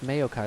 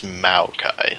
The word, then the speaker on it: Maokai: it's not May it's Mayo it's m a o it's Mayo Kai like this m a yo I thought it was maokai like m o w oh like mayonnaise like mayonnaise no I I pronounce